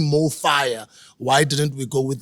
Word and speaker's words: MoFaya: to pronounce this word it's pronounced the same in any language in any country right and we're inspired